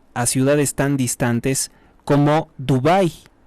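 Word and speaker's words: Dubái: ciudades tan distantes como Dubai con acento en la a la producción de fentanilo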